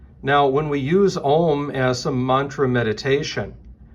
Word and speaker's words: Om: And that sound is Om. Now, when we use Om as a mantra meditation, it's very important, and